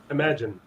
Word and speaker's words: Imaginarium: Imagine. It's just Imagine. It's spelled really funky. It's spelled like I'm a genie.